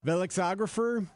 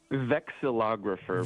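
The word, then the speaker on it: vexillographer: Velexer. Is that right? Am I pronouncing that correctly, Michael? Vexalographer.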